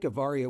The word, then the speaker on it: Avaria: Is it pronounced Avaria or Avaria? You nailed it. First All try. right. Avaria, we've already been sitting here talking, so I